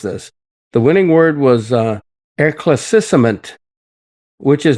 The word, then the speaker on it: éclaircissement: the final winning word, I'm bound to mispronounce this. The winning word was éclaircissement, which is not a discussion of chocolate eclairs,